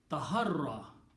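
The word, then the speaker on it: تحرى: Taharra. Okay. This is pronounced as taharra. Ya is not pronounced.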